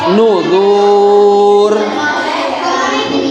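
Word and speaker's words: النذر: Nuzuru itu huruf asalnya begitu, nuzuru. Tapi ketika diwakofkan, maka cara pembacaannya adalah nuzur. Nuzur.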